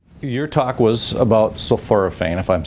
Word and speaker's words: sulforaphane: your talk was about sulforaphane, if I'm saying that right. Explain what that is and exactly what that does in layman's terms, I guess. Yeah, so sulforaphane, you did say it correctly, is a, it's